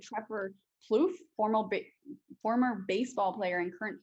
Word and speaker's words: Plouffe: Tyler Gooch sounds exactly like Trevor Plouffe, former baseball player and current podcast host.